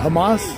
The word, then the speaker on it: Hamas: I can't pronounce Hamas. It's okay. It's Hamas.